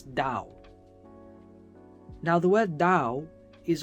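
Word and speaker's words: 倒: it upside down dow upside down in chinese is pronounced as dao now the word dao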